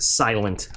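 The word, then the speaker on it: SLNT: got something else by slint i know i know it's they they want you to pronounce it silent i like calling it slint um so another faraday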